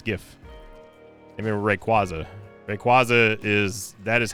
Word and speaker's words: Rayquaza: Rayquaza is that is how you pronounce it. I reject anyone who who calls it Rayquaza because it's just wrong.